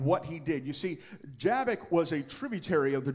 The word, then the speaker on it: Jabbok: And some pronounce it Jabbok, some say Jabbok. The Hebrew is actually Jabbok, but I have said Jabbok for a long time, and I'm not going to remember to say Jabbok.